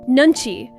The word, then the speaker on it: 눈치: What is Nunchi? Nunchi, 2 syllables. 눈. Nun. The eye. 치. Chi, a measure.